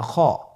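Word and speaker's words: خ: খ হরফটির মাখরাজ হলো কণ্ঠনালীর শেষ ভাগ হতে উচ্চারণ করতে হয়, কণ্ঠনালীর শেষ ভাগ।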